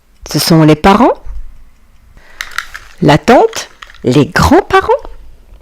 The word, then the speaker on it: tante: Tante. Vous voyez les amis, A + N vont former le son en tente.